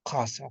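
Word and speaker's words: qasa: Y entonces esta Q se pronuncia con poquito más grueso, ¿no? Eh, incluso dice bien atrás en la garganta, ¿no? Jasa, porque Q está al inicio de la palabra.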